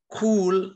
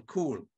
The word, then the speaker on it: Kuhl: The family name is Kuhl, like the English word C-O-O-L, Kuhl.